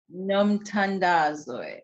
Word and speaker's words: Nomthandazo: how do you say your whole name name numb Tunde it is meaning matter of Prayer it is